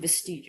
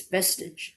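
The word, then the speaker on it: vestige: Oh, I guess I'm saying it wrong cuz I was saying vestig. Okay, so that's wrong. I I I made it sound French. Vestig, but apparently it's vestage.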